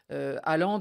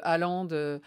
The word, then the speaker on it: Haaland: Vous parliez de Haaland. Vous le prononcez à la norvégienne. Nous, on dit tout simplement Haaland, mais vous allez voir, il va falloir aussi s'entraîner au géorgien désormais.